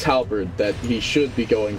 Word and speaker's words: halberd: they talk about the guy who adds extra syllables towards that's what you remind me of when you say Halla bird Albert whatever I want to think it's halberd that he should be going for it or